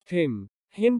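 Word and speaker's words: hymn: कुछ शब्दों में M अन के पहले आता है तो M का उच्चारण नहीं होता। हिम प्रार्थना गीत।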